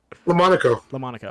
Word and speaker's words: LaMonaco: LaMonaco.